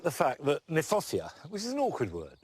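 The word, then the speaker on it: Kniphofia: roots in there i like the fact that nyphofia which is an awkward word not an easy word to say in fact is mispronounced we should pronounce it nip hoffia because it was named by johann hieronymus nip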